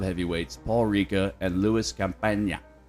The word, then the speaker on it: Campagna: While there, he met Chicago mob heavyweights Paul Ricca and Louis Campagna. I'm assuming that's how you say his name because it's spelled like champagne without an H and an A at the end.